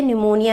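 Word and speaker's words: pneumonia: किसे फैलती है बैक्टीरिया निमोनिया में साइलेंट लगा हुआ रहेगा ऐसा नहीं है की आपका एग्जाम में पी नमूने करके लिखा हुआ हो पढ़ा उसे निमोनिया ही जाता है तो आप गलत मत कीजिएगा कुछ दिन का रोटी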